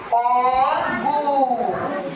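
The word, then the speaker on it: ফল্গু: ফার সাথে ল হবে, ফার সাথে ল হবে এরকম। তারপরে এই ফলগু, তাহলে উচ্চারণ করতে কি আর কোনো সমস্যা হবে? ভেঙে ভেঙে উচ্চারণ করবো। আমরা কি করবো, যুক্ত বর্ণ পড়ার সময় সবসময় ভেঙে ভেঙে উচ্চারণ করবো। যখনই আমরা ভেঙে ভেঙে উচ্চারণ করবো তখন কিন্তু আমাদের আর করতে কোনো সমস্যা হবে না। ঠিক আছে, ফলগু, তার সাথে লটা উচ্চারণ করছি, তারপরে গু, ফলগু।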